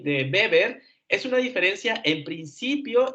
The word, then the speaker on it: Weber: tan bien hecho pero en el caso de beber es max beber porque él es alemán no es inglés entonces su apellido se pronuncia beber por si lo vuelves